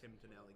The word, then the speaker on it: Tim Tonelli: everybody, I'm coming to you from TJ's with Tim Tonelli. Hey guys. Am I pronouncing that right? Yeah, that is correct. Tim Tonelli.